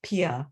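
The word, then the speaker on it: Piha: Nature Center and oh that was supposed to say pi po Beach Pia p-i-h-a is a small town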